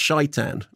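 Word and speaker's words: Şeytan: family the guy that told me it's not pronounced Satan it's pronounced shaitan and I said okay and never was something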